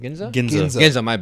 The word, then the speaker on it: Ginza: ga the Gaza how do you say it Ginza G gin my bad my bad like that's